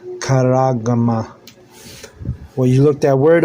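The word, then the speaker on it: charagma: Look up that word kuragma in Greek. It's C H A R A G M A. C H. Yeah. Karagma. Sharagma. All right. That's how you you spell it. Like C H A R A G M A. Karama.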